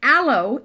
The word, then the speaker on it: aloe: morning John so again a low is today's word of the day and by a low I do not mean the French word for hello I mean alo alo e alo it's